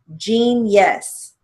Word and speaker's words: genius: Genius. Now, genius is spelled with a G, but it has a J sound, so we're going to use our initial J.